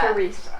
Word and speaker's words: Theresa: It's Theresa. Theresa. The H is silent, so Hi.